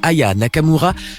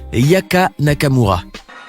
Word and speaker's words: Aya Nakamura: Tout commence au Energy Music Awards 2018 au moment où l'animateur Nikos s'apprête à présenter Aya Nakamura juste avant qu'elle se produise sur scène.